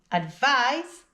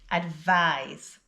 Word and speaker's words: advise: Advise is pronounced with the z sound at the end. Listen and repeat again. Advise.